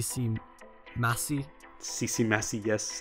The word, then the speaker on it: Ccmaci: you bounce it I think seem masse CC messy yes it's the in my bed everyone